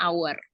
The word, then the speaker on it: hour: lainnya adalah kata Our ya tulisannya hour Tapi bacanya hour nah penggunaannya dalam kalimat bisa sebagai berikut it's